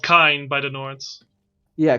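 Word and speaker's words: Kyne: I think like the ones that are like clearly have a different one is Kinnereth, who is called Kine by the Nords. Yeah, Kina.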